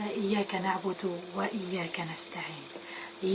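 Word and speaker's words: إياك: aider à contempler, à méditer le verset « Iyaka na'budu wa iyaka nasta'in ». « Iyaka na'budu » seul toi nous adorons, cela concerne Allah Azza wa Jal. « Wa iyaka nasta'in » cela nous concerne.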